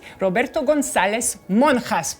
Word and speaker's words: Roberto González-Monjas: We are here with Roberto Gonzalez Monas. Please tell me if I pronounce it correctly.